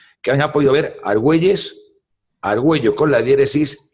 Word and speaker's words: Argüello: es el mismo peligro pero se pronuncia diferente no no no no no se debería de pronunciar lingüísticamente arguello no pero no se hace porque porque se incide en la u directamente entonces pequeño a un